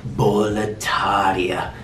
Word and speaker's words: Boletaria: Guys, next up, we have the world that surrounds Demon Souls, which is gonna be, of course, Boletaria.